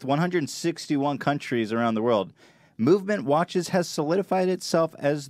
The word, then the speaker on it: MVMT: you pulling it off and VMT watches pronounced movement was founded on the